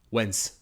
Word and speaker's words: when's: If you say it with an S, it'll kind of have a weird, cut, not quite natural sound. When's. As soon as you say it like that, it doesn't quite sound like a native speaker. So make sure to have a Z noise.